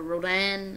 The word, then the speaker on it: Rodan: one from the movie Roden or Rodan as people like pronouncing it as well I just really like